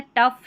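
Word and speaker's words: tough: इनफ है, टफ है। सभी में फ है। जी एच लिखा गया है फ की ध्वनि के लिए।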